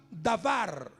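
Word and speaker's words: דבר: en el original hebreo una palabra que se pronuncia da bar de a v r lavar y la palabra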